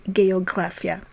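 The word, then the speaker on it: גאוגרפיה: in Hebrew in English when a word ends in graphic that refers to a field of study or writing in Hebrew the suffix is graphia so to say geography we say geographia and to say calligraphy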